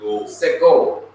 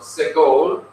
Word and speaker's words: segol: of the short vowel segol. That's the name of the vowel, segol. It's pronounced e as in bed, e as in bed.